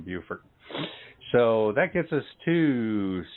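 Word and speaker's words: Beaufort: that gets us to yeah no bufort yeah that's how the ladies pronounce it when I'm talking to them Buford so that gets us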